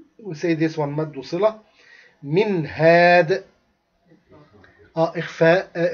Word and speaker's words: منه: This one idhar halq means the noon will be pronounced very clearly.